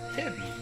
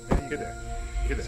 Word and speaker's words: Hidde: Chuck, Hiddy is pronounced Hiddy without the N. Who knew? Hidde.